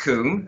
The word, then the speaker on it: Kun: Well, the first name is Kuhn, as in Kun Aguero.